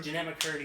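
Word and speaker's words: Jennette McCurdy: Jeanette McCurdy. Am I pronouncing that right?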